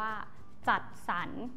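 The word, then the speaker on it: จัดสรร: ที่ ใช้ ร หัน ถ้า ไม่ มี ตัว สะกด จะ อ่าน ออก เสียง ว่า มัน มี เสียง สระ อะ และ ตาม ด้วย นอ หนู สระ กด ค่ะ เช่น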